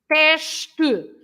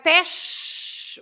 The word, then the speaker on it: teste: For example, teste. You have teste, which is the final letter for the syllable, and then tu. Teste. You don't say test like in English, but it's teste. Teste, yeah.